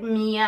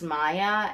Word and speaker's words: Maia: She is I said Mia, I think, in my box opening, but I believe it's pronounced Maia, M-A-I-A.